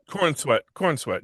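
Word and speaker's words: Corenswet: And how do you pronounce this brother's last name? David Cornsweet? Cornsweet? Corn sweat, yes.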